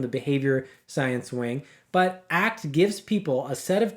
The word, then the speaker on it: ACT: ACT, as it's pronounced, the word ACT, not ACT.